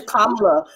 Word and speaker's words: Kamala: Her name is Kamala. Every time y'all say this lady name wrong, I just know like y'all doing this shit on purpose.